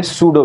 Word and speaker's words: pseudo: एक वेलोसिटी आती है जिसको हम क्या कहेंगे सूडो वेलोसिटी कहीं एक जगह पे हम यूज भी